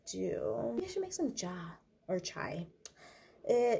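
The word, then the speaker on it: ચા: jar or chai uh you pronounce it ja in Gujarati I don't know if any other Indian language pronounces it differently than in the Hindi language but yeah in Gujarati is Ja not chai but that's it's I want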